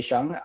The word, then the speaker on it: Sheng: truly and and you're the pronunciation of your last name is shang good question i think folks who are native mandarin or cantonese speakers yes would say shang i i speak a